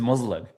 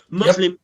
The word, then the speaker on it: Muslim: So, he's talking about the emphasis on the first part of the word. So, he's saying Muslim rather than Muslim.